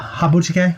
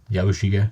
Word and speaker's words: Yabushige: But by the way, if I were Habuchige, or how do you say his name? Yabushige.